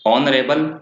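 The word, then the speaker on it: honourable: Honest में भी same यही बात कि एन ऑनेस्ट मैन, और ईयर, ईयरेस, ऑनरेबल और ईयरलूम। तो ये साइलेंट रहता है इनमें एच, तो इन वर्ड्स को आपको ध्यान रखना है।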